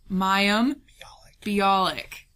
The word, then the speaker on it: Mayim Bialik: We coached me on how to pronounce this. Mayim Bialik.